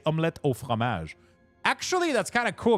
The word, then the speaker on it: omelette au fromage: Actually, that's kind of cool because most people remember Dexter saying omelette du fromage, which is actually not correct. It is actually omelette au fromage. It's not du, but because Dexter said it wrong, now everybody says it wrong.